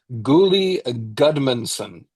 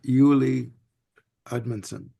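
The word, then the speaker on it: Julie Edmondson: uh the artist uh Gully Goodmanson and the yes go ahead no I I do believe it's pronounced Julie Edmonson Julie okay thank you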